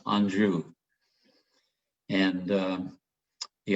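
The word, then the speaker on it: Anjou: different varieties of second pear and the the anjo and notice some people will maybe pronounce that a little different but it is pronounced andrew and um the anju is a great pair the cycle pair is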